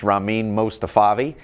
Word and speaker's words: Rahmein Mostafavi: My name is Rahmein Mostafavi. It's spelled just how it sounds.